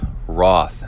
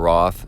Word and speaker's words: Roth: In the racing world, the biggest triathon to go down lately is Roth. And I believe they pronounce it rot.